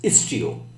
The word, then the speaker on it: Istio: is actually istio is t o we are pronounce it as istio so istio has a very interesting feature of traffic splitting